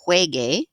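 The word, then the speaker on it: juegue: hey right it's then it's a soft g it doesn't maintain that original sound right these are very hard for me to pronounce incorrectly so really i want it to be yo juege so i added that u to get the hard g sound with al morsar the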